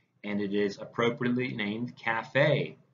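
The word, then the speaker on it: CAFFE: So just remember, two Fs for this Cafe, just like two E's in Raffi, three E's in ET. We are heavy on the syllables here. So Cafe, and as you see,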